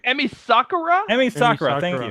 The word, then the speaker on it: Emi Sakura: Oh my God, I'm going to butcher the name. Emma, help me, Matt. Emma, I want to say Emma Sakura, but I don't think that's right. Emi Sakura?